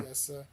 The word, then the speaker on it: Nicieza: And it's It, Fabian it Nicieza, which I can never Nacy, pronounce. yeah, Never Naciesa, or yeah. Nicieza.